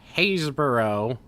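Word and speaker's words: Happisburgh: can I help you in Britain haysboro is spelled h-a-p-p-i-s-b-u-r-g possibly one age here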